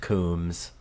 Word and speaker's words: Combs: It's No, I've never heard pronounced- It's pronounced Coombs.